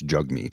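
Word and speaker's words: Jagmeet: should call him now I know it's jug meat is how it's pronounced but zigzag Jag because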